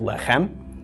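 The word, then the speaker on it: לחם: the M of the final mem lek M pronunciation of this word and a lot of you are probably familiar with left hem lefm means bread or sometimes use to mean food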